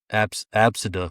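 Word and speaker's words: ABCD: Absida was how the name was pronounced.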